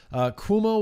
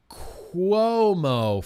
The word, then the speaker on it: Cuomo: said I don't know anything about it Cuomo will be looking for a new job when